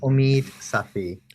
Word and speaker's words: Omid Safi: background on you and um is is it Safi is the the way to pronounce the both of the eyes are long vowels uh so it's Omid Safi Omi right I heard you say on your